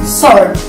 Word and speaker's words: sword: It happens when the letter S meets the letter W, and then it will be pronounced as S. For example, in words answer and sword.